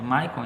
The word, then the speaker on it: Michael: Pronunciando assim, que é Michael em inglês, né?